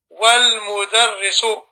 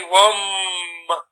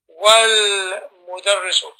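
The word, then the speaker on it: والمدرس: So you say wal-mudarrisu. You don't have to join the lam and the mim together, and you don't say wam. No, you don't. You say wal-mudarrisu.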